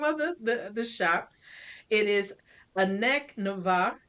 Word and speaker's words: Annac Nevah: It is Annac Nevah. It's backwards for Canna Haven, right? Correct. Yes. Did I do it? So it's a Annac Nevah.